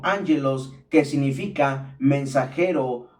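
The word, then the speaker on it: ἄγγελος: Ángelos, pronunciado como ángelos, que significa mensajero o ángel, y logos, que significa estudio, palabra, materia o cosa.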